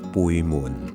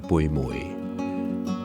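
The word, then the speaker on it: 背門: 我頭先同阿蘭姐講嘅係背門，即係背脊嘅意思，唔係背梅。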